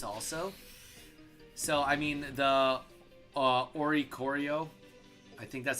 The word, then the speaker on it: Oricorio: Also, so I mean the Oricorio, I think that's how you say it. Oricorio, yeah, it's really not that bad with this deck.